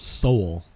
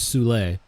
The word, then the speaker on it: Soule: It's pronounced Soul. Kind of like heart and soul, only a little more wool at the end, perhaps. Soul. The proper French is Soule, but soul.